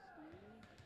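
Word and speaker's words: Steem: She goes by Maddie Steam, like Steam, so S-T-E-E-M. Okay. But that can also be pronounced Steam or Stena. It depends what town. In this town, it's same too. She just goes by Steam.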